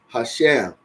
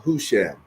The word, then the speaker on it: Husham: the Third King was Hashem or husham so h u s h m okay and